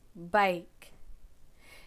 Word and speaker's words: bike: She has a blue bike. Bike has I, silent E pattern, that vowel pattern, making the long I sound.